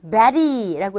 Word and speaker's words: Betty: 베티라고 발음해도 되지만 일단은 Betty라고 해서 R에 가까운 소리가 돼요. 글자는 Y지만 소리는 E라는 모음이에요. 소리가 모음으로 들리는 상황에서의 모음과 모음 사이의 T음은 R에 가깝게 들린다. 그래서 Betty 이렇게 발음이 되죠.